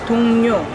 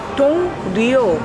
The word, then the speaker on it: 동료: 제 말 in polite speech, 동료, 동료. Even though it starts with L, you can pronounce it as N.